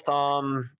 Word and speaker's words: Thom: Tells Tom that come on, I can be forgiven for saying that because it's spelled Thom. Dang it! It is spelled Thom.